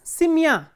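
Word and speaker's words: семья: So, if the ending is stressed, for example, simya, in simya the ending is stressed, the stress is on ya.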